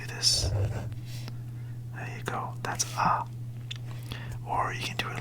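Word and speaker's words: あ: down a which is a all right so ah would be like this so first you would do a what's it called a like that right and then you would do this there you go that's ah or you can do it like this usually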